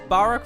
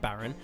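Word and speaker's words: Barok: for me to realize it's Barack and not Baron see when I read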